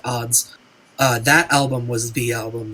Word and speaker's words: Adz: yeah the Sufjan Stevens Age of odds or Adz ads people read it differently I believe it's supposed to be pronounced the odds that album was the